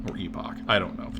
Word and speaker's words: epoch: I keep pronouncing it more, so this word is, I think it's supposed to be pronounced epoch. I keep saying it kind of like it were epic, right?